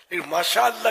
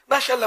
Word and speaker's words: ماشاء اللہ: ماشاء اللہ ماشاء اللہ ماشاء اللہ، واٹ از دس ماشاء اللہ ماشاء اللہ، یہی کر رہے ہیں نا آج کل، یہ تھوڑی ماشاء اللہ صحیح تلفظ ادا کر، انشاءاللہ انشاءاللہ انشاءاللہ آ